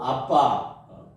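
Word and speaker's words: אבא: 우리는 하나님을 아빠 아버지라고, 여기 히브리어 상의 발음도 아빠, 또 우리가 어렸을 때 또 쉽게 아버지를 부를 때 아빠라고 그러는 게 발음이 같답니다.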